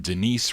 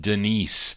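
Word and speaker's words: Danise: It's spelled D-A-N-I-S-E. I think they pronounce it Denise.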